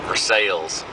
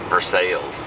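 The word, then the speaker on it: Versailles: well that's okay um I'm here in for sales yeah that's how they say it for sales so I'm here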